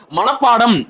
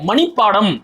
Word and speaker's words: மனப்பாடம்: மனப்பாடம் என்பதற்கு பதிலாக மணிப்பாடம் அப்படிங்கிறாரு.